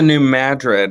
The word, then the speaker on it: New Madrid: got immediately ah yeah it's the new madrid although it's spelled like new madrid yes but it's madrid and in 1898 to